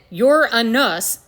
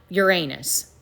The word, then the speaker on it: Uranus: And yes, you pronounce it yours, not Uranus.